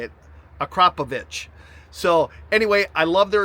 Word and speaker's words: Akrapovič: This is the Acropovich exhaust.